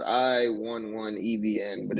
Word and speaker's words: i11evn: i always i don't always see that i right there for some reason okay yeah no it's spelled i 1 1 ebn but it's pronounced 11.